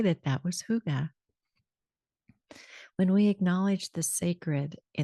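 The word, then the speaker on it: hygge: like to share the book of Huga and that's spelled Hy G G and it's the Dana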